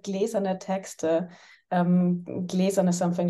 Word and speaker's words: Glas: make for please suggest to improve my German pronunciation yes of course the reading series is called glaz on a text um glaz on something like glass uh like a a